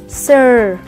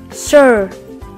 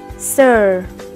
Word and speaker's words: Sir: Đặt tay lên cuống họng và cảm nhận âm R. R. Sir. Sir. Đây là chữ sờ nhẹ thôi, cho nên các bạn không cần phải đọc thành Sir.